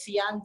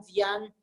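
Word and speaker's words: Dzyan: Hay concepciones diferentes en cuanto a la pronunciación de la palabra, pero es Sian, Dian, Dityan.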